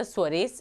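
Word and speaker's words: Suarez: e z so this was a father father sarees is the pronunciation he he told that actually three lines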